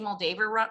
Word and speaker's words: Moldaver: Jodi, did I say Moldaver wrong?